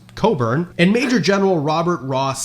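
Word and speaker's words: Cockburn: expeditionary force under the command of Rear Admiral George Coburn, spelled like this but pronounced Coburn and Major General Robert Ross sailed up the Chesapeake Bay towards Washington DC.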